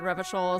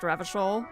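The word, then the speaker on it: Revachol: Maybe there's a way to get up to the roof from the That tool tip said Revishol is pronounced Ravishol, which makes me very happy.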